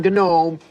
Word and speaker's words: gnome: you would know that the G in Gnome is silent it's gnome okay no it's gnot